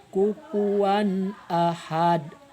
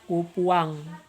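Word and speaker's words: كفوا أحد: Contoh, misalkan dari kalimat kufuwan ahad. Lihat tanda merah di sana dari huruf waw. Itu wan, itu jelas. Kufuwan ahad. Enggak dibaca kupuang atau kupuwam. Tapi suara n-nya harus jelas.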